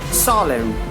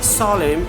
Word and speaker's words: solemn: So N letter will be silent. So they see the example: column, dam, solemn, autumn. Autumn, column, dam, solemn, and autumn. That means in these all words, N letter is silent.